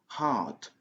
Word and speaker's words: heart: Donc, heart, heart, dans la prononciation de l'anglais britannique. Donc, avec les Américains, donc, si on utilise la prononciation américaine, on a ajouté un petit symbole qui représente le son R, R. Donc, heart. Donc, parce que en anglais américain, on prononce le son R, même partout. Mais en anglais britannique, le son R n'est pas prononcé tant qu'il n'y a pas une voyelle qui suit.